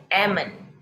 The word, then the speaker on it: almond: words without the l there is l in the word however when you pronounce it when you say these words it is silent l so you say almond salmon okay so do not